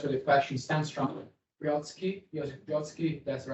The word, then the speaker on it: Joseph Brodsky: Joseph Brodsky, that's the right pronunciation.